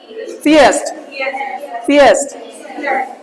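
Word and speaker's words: theist: था पूरा नहीं बोलना होता, बुलवाया था ना मैं। ये जो टंग है ना आपका, दांतों के नीचे लाओ, सर, सर नहीं बोला, सर, थैंक यू, थियस्ट, तब अच्छी बोलेगी इंग्लिश, ठीक है ना, थियस्ट।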